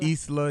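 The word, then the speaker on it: Islah: that's how am I saying it correctly I pronounce it Isla you can say Isla however you want to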